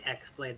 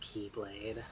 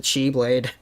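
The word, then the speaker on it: χ-blade: is the the the X Blade the cross blade it's it's pronounced keyblade yeah that's right it took me reading that stylized X I'm like oh it's key that that's the thing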